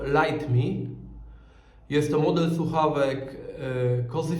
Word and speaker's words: Lytmi: nic nie telepie okej firma ta nazywa się lit me ale czyta się to light me Jest to model słuchawek